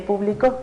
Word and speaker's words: público: Y publico, el público. Entonces, ¿cómo voy a saber dónde va el acento? Es solo cuestión de identificar. Si dice público, ¿no? Y yo sé que está en la primera sílaba, como les digo, para